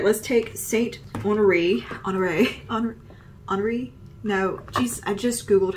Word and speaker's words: Honoré: All right, let's take Saint Honoré, I just Googled how to say this.